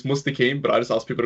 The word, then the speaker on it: Mustaqueem: how do I pronounce your name? I went past that. I mean, it's Mustaqueem, but I just ask people to call me for short. Just Okay. for short. Mustaqueem.